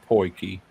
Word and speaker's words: potjie: O I think T that's the way you J I pronounce E. it is Poiki.